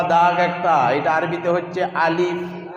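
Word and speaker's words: ألف: আলিফ আলিফ আলিফ আলিফ যখন বলবো আমাদের উচ্চারণটা আলিফের কেমন হবে? দুটা ঠোঁট বুঝবে না, বাতাসের সহিত বেরোবে আলিফ শব্দ, আলিফ আলিফ। এবং সিটিও হবে না আলিফ, এরকম সিটিও হবে না, আলিফ আলিফ। আলিফ দ্রুত উচ্চারণ করব, আলিফ আলিফ, এইরকমটা উচ্চারণ করব না আলিফ, তাহলে ভুল হয়ে যাবে।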